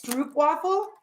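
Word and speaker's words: stroopwafel: Stroop waffle. Is it not Stroopin? It's Stroop. It's Stroop waffle? Yep. Stroop waffle.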